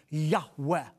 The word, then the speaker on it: Yahweh: Semitic Scholars feel that God's personal name which comes from the four Hebrew letters yud he VAV he is pronounced a breathy Yahweh that's the name of